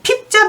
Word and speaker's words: 逼: 나머지들은 복자와 부자, 폭자 이렇게 하는데 얘는 완전히 핍자 발음을 하니까 좀 조심할 필요 있고요.